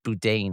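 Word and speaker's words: Boudin: Francisco I the pronounce it's pronounced budain I believe right right but they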